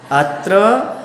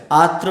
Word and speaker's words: अत्र: तिष्ठ बोलने लगते हैं उसका शुद्ध उच्चारण क्या है अत्र अत्र अत्र तिष्ठ तिष्ठ ति आत्र आत्र नहीं और ो टो नहीं